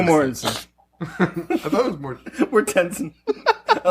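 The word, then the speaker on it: Mortensen: starring Mortenson is that how you say it Mortenson yeah Mortenson I think is this a joke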